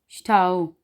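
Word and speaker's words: Stau: एस थे आवाज़ बनाएगा श की, तो इसको हम पढ़ेंगे श्ठा, श्ठे, श्ठी, श्ठो, श्ठू। मिसाल है श्ठाओ, श्ठाओ यानी कि रश, हजूम।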